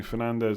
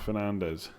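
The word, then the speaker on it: Fernandes: would use his property Fernandez not Fernandez he's Portuguese not Spanish is it not pronounced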